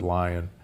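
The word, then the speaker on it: Lyon: humans which was called the lion heart diet or the leone heart diet l-y-o-n but most from leon france but most people pronounce it lion there that diet in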